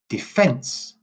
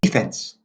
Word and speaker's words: defence: two dirt to dirt so we say weak strong defense defense so the stress is on it the second E defence how do they say this in American English is the opposite they say deep defense defense so the stress is on the first syllable so defense also in